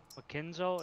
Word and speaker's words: Machikenzo: Machikenzo, is that how you pronounce it? Yep.